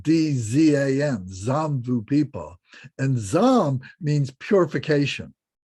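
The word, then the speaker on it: Jambu: i just remembered something the words here it's it's spelled j-a-m-b-u-d-v-i-p-a um it's pronounced like d-z-a-n zombu people and zom means purification so this is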